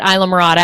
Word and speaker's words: Islamorada: spell the island okay well i call it isla morata as do most people but hiro tell them